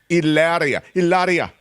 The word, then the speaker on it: Hilaria: Hilaria. Am I saying it wrong? Hilaria. No, you're saying it right.